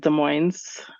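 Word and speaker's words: Des Moines: in a town called De Moines we pronounce the S and De Moines um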